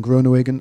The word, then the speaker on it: Groenewegen: Kittel won it ahead of Groenewegen, Dylan Groenewegen of Team NL. Well pronounced.